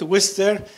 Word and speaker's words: Worcester: at Worcester Polytech Institute Worcester that's how Americans pronounce it I think it's written Rochester that it was still just like Worcestershire sauce it's a whistle Polytech